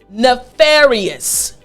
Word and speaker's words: nefarious: So after me again, nefarious. Excellent. Last time, nefarious. Good. Front teeth on your bottom lip.